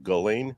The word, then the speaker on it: Ghislaine: she couldn't even pronounce Ghislaine, which that tells you how her name is actually pronounced. The counsel for the defense pronounces her name Ghislaine, like Elaine with a hard G in front of it.